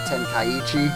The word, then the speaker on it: Tenkaichi: Tenkaichi is how you pronounce it.